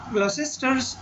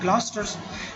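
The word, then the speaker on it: Gloucester: ग्लॉसेस्टर्स जो है ना, यहाँ पर ये जो लिखा गया ग्लॉस्टर्स जो है ना इसको प्रोनाउंस किया जाता है ग्लॉस्टर्स, ठीक है।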